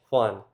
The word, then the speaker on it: Juan: And the letter j is different, too. That's pronounced with the English "h" sound, like in the name Juan.